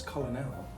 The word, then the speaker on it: colonel: that's out of nowhere that that pronunciation and also it reminds me of the word colonel as in a kernel of corn oh i'm sure that